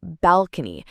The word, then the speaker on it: balcony: Next, let's try balcony. This word has three parts and the stress is on the first part.